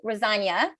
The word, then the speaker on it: Rosanie: So while she's doing that, Nicole Rosania, which rhymes with lasagna, was on a school